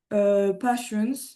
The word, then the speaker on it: passions: Spanish, passions. Le A, il va vraiment se prononcer E. Passions, Spanish. Tu vois, il n'est pas aussi grave qu'en français.